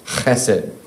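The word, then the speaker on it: חֶסֶד: it's all over the Old Testament, and it's pronounced chesed.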